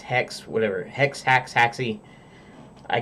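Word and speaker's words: Haxe: hacks hacks II I always thought it was hack C originally it's spelling h ax e but they say it's it's pronounced X because you know they have the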